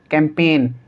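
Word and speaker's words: campaign: से पहले जी है, तो इसको हम क्या पढ़ेंगे? डिज़ाइन, कैंपेन, रिज़ाइन और साइन। ठीक है, तो इन सभी के अंदर जी साइलेंट है।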